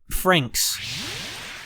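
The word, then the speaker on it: Franxx: the japanese title dotting in so it's pronounced frank franks darling in the franks i'm not good at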